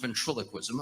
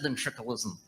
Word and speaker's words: ventriloquism: ventriloquism then chuckles and that's good stuff it's pronounced ventriloquism i just said then trickle ism that's not right say that then now say